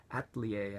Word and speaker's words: Atelier: games in the Atelier ater actually is the pron pronunciation but nobody knows what that if know what it is unless I say a Tellier Series so I'm going to